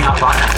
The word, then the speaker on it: adovada: The meat in the number 2, is it pronounced adovada? Yeah, the carne adovada.